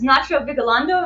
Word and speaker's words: Nacho Vigalondo: Before you even know that about him, just know this is Nacho Vigalondo. Am I pronouncing that correctly?